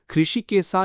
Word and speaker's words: ஹிருஷிகேசா: இந்த பெயர் சம்ஸ்கிருதத்திலிருந்து வந்தது. ஹிருஷிகேசா என்று உச்சரிக்கப்படுகிறது.